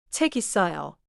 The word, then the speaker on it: 책 있어요: 책 있어요. I'm not adding a new sound. I'm just moving the final sound for exactly. In Korean, this is not a spelling change. It is a pronounciation flow.